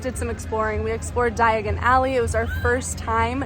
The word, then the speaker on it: Diagon Alley: one of the movies where Harry is trying to travel by flu powder and says diagonally instead of Diagon Alley so sometimes I say it wrong uh but anyway that